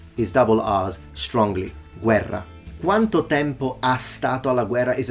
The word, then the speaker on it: Guerra: is a pronunciation mistake a Double R is pronounced as a Double R all the time Guerra there are some Italians that say Guerra but they are in